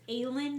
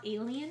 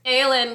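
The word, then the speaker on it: Aelin: did you say that her name is alen not alien it's alen guys we're pronouncing it correctly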